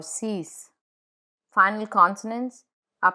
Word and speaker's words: six: Final consonants are pronounced in numbers, like cinq or six.